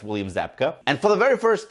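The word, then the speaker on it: Zabka: i'm i suck with names yeah it's william zapka and for the very first time we see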